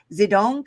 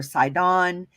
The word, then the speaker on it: Sidon: Zidon comes from H6721 in the Strongs and the Brown Driver Briggs. It's pronounced Zidon or Sidon, and it means like a hunting ground.